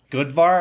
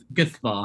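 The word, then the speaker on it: Guðvarr: say, yeah, something about Goodvar. Am I saying that right? No, Guthvar. Guthvar?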